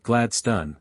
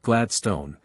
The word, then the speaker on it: Gladstone: change my suit that I should pronounce it glad stun not Gladstone and that it was Harden not Hawarden then he stood me up